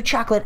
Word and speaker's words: chocolat: All right, so next time on Catatonic Gaming, I'm going to do Chocolate Island number D.